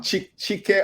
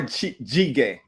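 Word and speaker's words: 찌개: here, they need to try some kind of jjigae. Yeah. Which is a Doesn't Jjigae. matter stew. what kind. Jjigae Stew. is Yeah. a stew. Yep. What did Stew. I Also, say right or wrong? Chike or jjigae?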